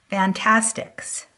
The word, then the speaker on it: Fantastix: a blending tool called fantasticks and it's spelled a little weird it's an T ast IX it comes in two